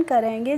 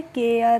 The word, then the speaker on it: care: इस तरीके से इनका हम प्रोनाउंसिएशन करेंगे। जैसे ARE है, CARE, तो इसको हमें कारे, रारे, मारे, बारे इस तरीके से नहीं पढ़ना है। केयर, रेयर, mayor, bear, fair ऐसे पढ़ेंगे।